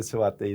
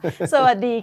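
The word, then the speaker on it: สวัสดี: You can say the Sawatdee, that sounds better coming from a Thai Sawadee. Sawadee ka.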